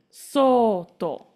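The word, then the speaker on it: 外: That is not sato. Any idea how else it could be read? It's oto? Good guess. This is soto. Soto. So you got the S right first time, and the second time you got the O right. But you had to combine the two together.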